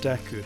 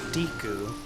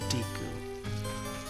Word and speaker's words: Deku: you what it was Deku is also something I pronounce very differently I pronounced it diku as a kid that one for some reason was one of the harder ones to break habit-wise I always